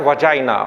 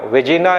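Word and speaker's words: vagina: इसका प्रोनाउंसिएशन होता है वजाइना, वेजिना या कुछ और नहीं बोलेंगे, वजाइना।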